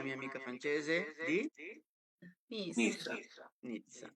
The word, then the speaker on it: Nizza: Nizza. Nizza, come pizza.